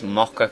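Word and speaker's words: Moccha coffee: we uh found some MOA coffee inside this place mocka coffee of course see say it properly um and then and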